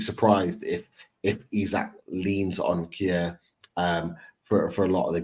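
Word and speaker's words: Kjær: I can't pronounce his name, but is it Kjaer? The real pronunciation is Kjaer.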